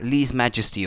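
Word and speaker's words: lèse-majesté: Lèse majesty. Ah, lese majesty. Okay, that's how you say it in English then.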